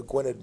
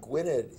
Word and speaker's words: Gwynedd: suburb of Philadelphia and Gwynedd is a place named yeah am i pronouncing it correctly pointed with that so the double D is like a th yeah but it's hard